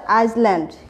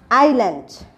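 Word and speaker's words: island: তোমরা কিন্তু সবাই বলবে যে এটা হচ্ছে আইসল্যান্ড, কিন্তু এর সঠিক প্রোনাউন্সিয়েশন কি হবে, আইল্যান্ড, এটা কিন্তু সবাই মনে রাখবে।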